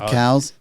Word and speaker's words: CAO: you say it but it's spelled CAO I'll try find the cow yeah we have the